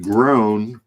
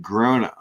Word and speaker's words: Grona: I've heard people pronounce it groan, but I saw a video with the brothers where they said Grona. Grona. When they Yeah. described it. I'm going with them since it's their brand.